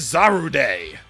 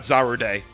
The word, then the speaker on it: Zarude: be our guinea pig this is zaru day or zarud pretty much zaru day if you want to go with the official japanese pronunciation this pokemon looks pretty